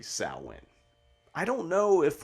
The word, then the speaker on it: Samhain: equally as confusing so the correct way to pronounce samhain is actually salwin i don't know if